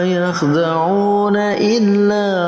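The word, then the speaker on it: يخدعون إلا: Ini dinamakan mad jaiz munfasil. Dibacanya 4 sampai 5 harakat atau 4 sampai 5 ketukan. Wa ma yakhda'una illa anfusahum Di situ ada mad jaiz munfasil.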